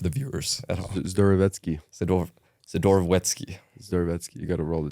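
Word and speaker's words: Zdorovetskiy: say it for the viewers at DKI sedor sedor wety zetki you got to roll the tong zetki but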